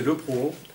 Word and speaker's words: Le Proron: Alors, les prorons ou le proron, enfin, maintenant ils prononcent les prorons, mais normalement c'est le proron.